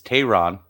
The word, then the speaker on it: Teheran: a nickname because we've been saying his last name wrong it's Tehran so Aaron is well